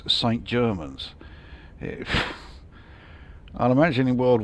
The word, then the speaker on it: St Germans: It really doesn't sound like I'm pronouncing it right. St Germain, it sounds like it should be something like, yeah, Saint-Germain, you know, as in Paris Saint-Germain, but no, apparently it is St Germans.